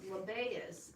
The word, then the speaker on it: Lebbaeus: And one of his other names is Lebbaeus, Lebbaeus, which means a man of heart. So he was obviously... Spell it again for me.